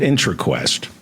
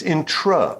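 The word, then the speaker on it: Intraquest: everywhere Quest intro questions remember it's not inter Quest it's intra which means within okay Enter between it's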